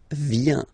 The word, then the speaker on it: viens: First form, je viens. Final S not pronounced. Je viens.